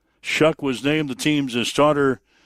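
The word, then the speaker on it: Shough: He says everybody mispronounces my my name, but he says it's really Tyler Shuck, spelled S H O U G H. They pronounce that Shuck.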